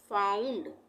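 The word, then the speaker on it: found: इसका उच्चारण होगा औ जैसे एफ ओ यू एनडी यहां पर क्या आ रहा है ओ यू एक साथ आ रहा है ना ओ के बाद यू आ रहा है तो यहां पर हम इसको क्या पढ़ेंगे फाउंड आ उ सॉरी मैंने य पर गलत लिख दिया है आ और उ आएगा आ उ यानी इसको हम पढ़ेंगे फाउंड उसी तरह से एस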